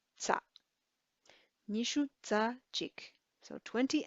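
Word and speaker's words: རྩ: So for 20, the and will be pronounced za.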